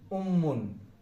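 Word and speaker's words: أمٌّ: তাসদিদটার কাজ কি? আলিফের সঙ্গে মিম একবার উচ্চারিত হবে, মিম একাই একবার উচ্চারিত হবে। তাহলে এটা পেশ, তাই না? আলিফ পেশ, আলিফ মিম পেশ উ, মিম, এখানে 2টা কি দেই, 2 জবর 2 জের 2 পেশকে তানবিন বলে। কি বলে? তানবিন। এখানে আমরা দিলাম 2টা পেশ। তাহলে আলিফ মিম পেশ মিম 2 পেশ মুন, উম্মুন। উম্মুন মানে হচ্ছে মাদার, উম্মুন মানে মাদার।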